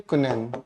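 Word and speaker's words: quinine: हमने लिखा कुनैन, इसकी प्रोनाउंसिएशन का ध्यान रखें, कुनैन।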